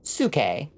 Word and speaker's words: Psyche: Like, the word, you know, the name Psyche is Suke, you know.